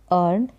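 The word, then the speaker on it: earn: तैयारी करना प्रिपेयर करना अर्न मतलब कमाना अ ई ए का उच्चारण अ अर्न इंप्रूव सुधारना कोई भी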